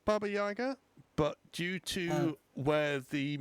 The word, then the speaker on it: Baba Yaga: Um yeah, and due to where where it's from, it is pronounced Baba Jagger.